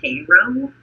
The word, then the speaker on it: Cairo: it in GE Georgia where there's a Cairo but everyone calls it cro it is Koo yeah yeah it's spell like Cairo like yeah we've got